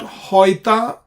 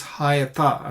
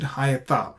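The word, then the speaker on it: היתה: This is not hoita, this is hayata, and well known, we pronounce it hayata.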